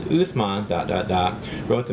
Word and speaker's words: Uthman: about him all right uthman sometimes pronounced usman uh he was a